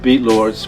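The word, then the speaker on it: Bxvtlxrdz: we on Instagram uh as beat Lords but we spell it differently it's like a hieroglyphic I do graffiti in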